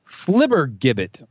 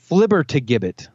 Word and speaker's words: flibbertigibbet: Your next word is flibbergibbet. Flibbergibbet. Flibbergibbet. This would be a commonly told tale. Oh. Actually, hold on. I left out a syllable. It's flibbertigibbet. Flibbertigibbet.